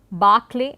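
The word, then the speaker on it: Berkeley: the diphthong A, and there are also certain words which have the letter E, but in terms of pronunciation the long A continues to be used. For example, it is Clark, Barclay and Berkshire, and in spite of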